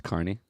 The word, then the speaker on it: Kearney: It's Carney. Kearney.